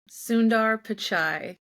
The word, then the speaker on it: Sundar Pichai: Sundar Pichai.